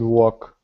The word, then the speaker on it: walk: Come and walk. In these two words missed L sound. Excellent. Yeah, both of them have the same letter that's silent. The letter L.